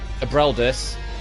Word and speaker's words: Abreldus: I have Abreldus, which is spelled A-B-Rel, as in R-E-L, Dus, D-U-S.